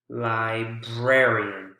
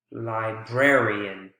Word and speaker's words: librarian: before the strong syllable so instead of library the first syllable it's the second syllable you can see that's the strongest librarian rare librarian prayer so you can